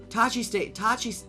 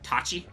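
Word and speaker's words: Tosche: Tashi Tashi. station. I keep wanting to say it with a hard C. Like Tachi.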